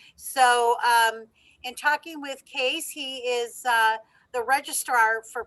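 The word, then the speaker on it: Kees: is spelled k k-e-e-s it's not pronounced keys it is case am i correct so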